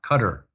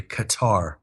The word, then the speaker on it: Qatar: and Qatar Financial sources us commentators call Qatar they call it cut cutter which is the wrong pronunciation but unfortunately we have to suffer that when you watch us uh commentators like wolf Blitz are calling it cutter it's really Qatar yeah so so that